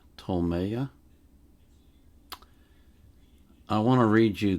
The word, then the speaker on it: Ptolemaea: I can pronounce this it's spelled PT o l m a ea I think it's TOA I want to read